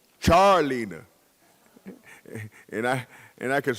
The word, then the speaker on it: Charleena: know what I mean everybody say Charlene her name is Char like charcoal Charles charlina and I and I